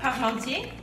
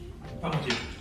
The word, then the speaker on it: Parmentier: Antoine Parmentier, French pharmacist, invented mashed potatoes. Don't give them any hints. No, say it in front. How do you say it? Parmentier.